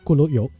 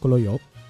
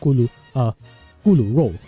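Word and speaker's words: 咕嚕肉: But yeah, next up is sweet and sour pork, your kolo yok. Okay, I'm pronouncing it in the Cantonese way because that's how I grew up, kolo yok. Or in Chinese, it's called gulu rou.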